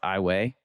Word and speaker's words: Iowa: Ross, are you familiar with the town that looks like Iowa in Louisiana, but it's pronounced Iwayi?